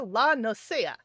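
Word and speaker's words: La Noscea: And by the way, Doodles, it is Outer La Nosea. And we're entering Western La Nosea. Though they pronounce it completely differently, it's like, dude, it's a Spanish word. Why are you not pronouncing it Spanish-like?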